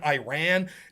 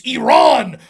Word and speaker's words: Iran: yelling at me because I pronounced her country of origin Iran it's it's Iran I won't let you